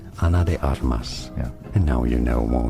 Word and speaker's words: Ana de Armas: Spanish for reference is said as Anna Anna English English Anna anally said Ana de armas from Spanish Ana de armas and now you know